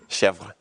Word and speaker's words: chèvre: Chev. Yes, I don't have that ability that, I mean, I'm sure if somebody spoke native French, chèvre, you got to roll the R at the end.